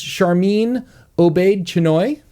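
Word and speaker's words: Sharmeen Obaid-Chinoy: No, I believe it's Charmin Obaid-Chinoy. That's exactly how you pronounce her name.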